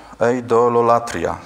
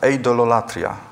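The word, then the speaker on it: εἰδωλολατρία: Z kolei grecki odpowiednik to jest eidololatria, tak się to wymawia, eidololatria.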